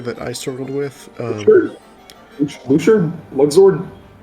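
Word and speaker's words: Luxord: i struggled with um lux zord how do you i call it i say luchad because that's how they say it in cage three sure okay let's say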